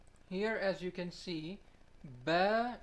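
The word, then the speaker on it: باء: as you can see bear is represented by the yellow circle here it is pronounced from our outer dry part of the lips this is the next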